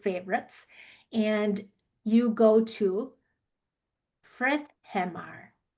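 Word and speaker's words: Friðheimar: and you go to Frithheimar. Frithheimar. Can you say that? Frithheimar. So look at how it's spelled and then how you say it is totally different.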